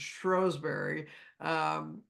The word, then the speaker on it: Shrewsbury: She lived in Shrewsbury, or as they pronounce it, Shrewsbury, where this Benedictine abbey was up until the time, of course, of Henry VIII, when all the abbeys went away.